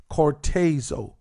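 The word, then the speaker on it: χορτάζω: And if you're writing it down, cortezo is spelled C-H-O-R-T-A-Z-O. Cortezo.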